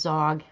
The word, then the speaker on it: Xog: this guy's name is zog xog i don't know why when an x is at the beginning of the world word you pronounce it like a z why don't you just